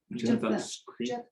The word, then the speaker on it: Jeptha: Jeptha. Jeptha.